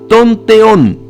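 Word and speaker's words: τὸν θεόν: palabra Dios precedida por el artículo definido se pronuncia tonteón mientras que la segunda Palabra de Dios sin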